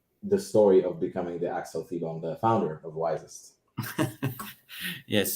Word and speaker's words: Thibon: Axel, I watched another public speaking event of yours, and that's the way that the other host pronounced it. So I hope Axel Thibon is the right way to pronounce it.